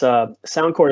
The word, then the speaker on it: SoundCorps: That's SoundCorps is spelled sound CORPS, kind of like Marine Corps or Peace Corps.